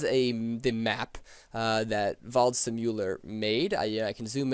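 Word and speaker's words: Waldseemüller: German cartographer named Martin I believe it's pronounced VA simular uh he he in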